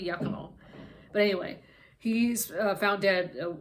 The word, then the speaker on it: Giacomo: husband I think it's mispronounced yakomo it's a g-i-a-c-o-m-o so I guess if you literally it could be it could be said as Giacomo Giacomo but I think it might be yakimo but anyway he's found